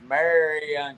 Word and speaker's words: Marion: It's Marion County. but everybody around here pronounces it Marin County.